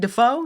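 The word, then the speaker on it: Dafoe: William Dafo. Is that how you say it? Defo. Defo. William Defo. It's okay.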